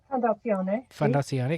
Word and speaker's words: Fondazione: Fondazione. Is that correct? Fondazione, okay.